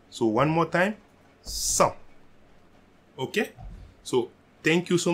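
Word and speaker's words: cent: 100. So we are not pronouncing the T at the end. So one more time. 100.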